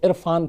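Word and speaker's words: Irrfan: असल में इरफान को अपना ये जो प्रोनाउंसिएशन है जो निकलता है वो ज़्यादा पसंद था, तो उसी को उस पर दबाव डालने के लिए RR लगाया, तो इरफान। फिर तो बाकी की जो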